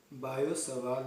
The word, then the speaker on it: Biot-Savart: Usually pronounced as Biot-Savart law.